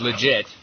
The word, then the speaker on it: Lijit: Todd Vernon CEO of legit is that the correct pronunciation Todd uh that's a pretty close uh that's pretty close uh it's legit like Too Legit to Quit oh I I hadn't